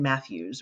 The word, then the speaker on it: Mathues: really on Twitter all with my name at Matthews which is spelled unusually m-a-t-h-u-e-s um at Matthews